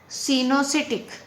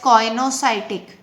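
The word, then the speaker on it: coenocytic: Some of the people can pronounce it एज कॉइनोसाइटिक। बेटा American accent में इसको कॉइनोसाइटिक term pronounce करेंगे और ब्रिटिश एक्सेंट में इसको सिनोसिटिक कंडीशन प्रोनाउंस करेंगे।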